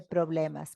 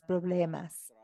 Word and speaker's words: problemas: los problemas así es hay que pronunciarlo más suave la B de problemas problemas y también trabajo no dices trabajo Entiendo entiendo entiendo los